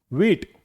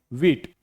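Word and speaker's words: wheat: वीट। क्या पढ़ेंगे? वीट।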